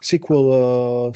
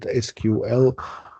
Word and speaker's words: SQL: I've seen it pronounced as SQL, school, etc. I usually pronounce it SQL, but if you hear someone talking about SQL, squirrel, they mean SQL.